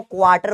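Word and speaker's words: quarter: आर silent होता है, इसको क्वार्टर बोलते हैं, क्वार्टर, क्वार्टर नहीं बोलते, क्वार्टर। तो जी का क्वार्टर क्या होगा बेटा, जी का क्वार्टर होगा जी नॉट बाय 4।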